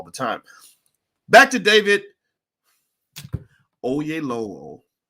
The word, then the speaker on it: Oyelowo: Back to David Oyelowo. Oyelowo.